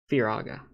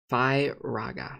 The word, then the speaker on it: Firaga: says on reddit that they pronounce it fear firaga see fi raga fi raga fi raga